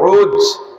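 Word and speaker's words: عوج: এর আরবিতে উচ্চারণ হলো আইন ও জিম, উজ। বাপের নাম উনুক, মার নাম সফুরা।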